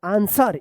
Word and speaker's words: answer: ANSWER, आंसर, इसको भी आप याद रखिएगा, सॉर्ड, आंसर।